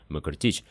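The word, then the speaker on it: Մկրտիչ: Но на самом деле они разбиваются в речи звуком «мыкртич», поэтому и образованная от этого имени армянская фамилия произносится отнюдь не так резко, как мы привыкли – «мыкрчан».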